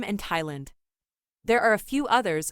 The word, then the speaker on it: Thailand: we take a breather there are some words where the th is not pronounced in other words the th is just pronounced as T can you think of